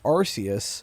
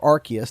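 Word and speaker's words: Arceus: like they did with Legends Arus or Archus depending on how you want to pronounce it or both ways pronounced.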